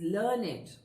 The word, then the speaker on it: learned: here another word and the pronunciation of this word is learn it okay this becomes an